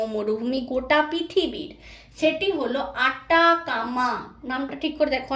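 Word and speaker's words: Atacama: দক্ষিণ আমেরিকায় যে মরুভূমি রয়েছে সেটি শুষ্কতম মরুভূমি গোটা পৃথিবীর, সেটি হলো আটাকামা। নামটা ঠিক করে দেখো, অনেকে আমরা আটাগামা উচ্চারণ করি, আটাগামা বলে কিছু হয় না, উত্তরটা হলো আটাকামা।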